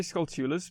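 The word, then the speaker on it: Skulltula: you pronounce that um i say skull tulas but i i do hear a lot of people say it's called tullas i think it's like a north american versus okay i think i've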